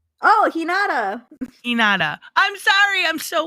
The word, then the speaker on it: Hinata: Who's Hanana? And Hinata. Am I saying it wrong? Oh, Hinata.